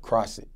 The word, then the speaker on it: Crossett: of Arkansas that you're in how do you pronounce it one more time cross it cross it I never heard it well now